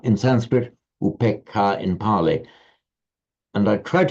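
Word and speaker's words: upekkhā: But in Pali it becomes shorter, upekha, because it's followed by a doubled consonant, double k.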